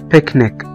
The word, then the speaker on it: picnic: الاتنين سي اللي موجودين في الكلمة اتقرأوا كأنهم حرف الكي picnic.